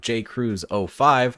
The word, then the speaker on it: Jkruse05: Today, we are joined by a wonderful mod author by the name of Jkruse05.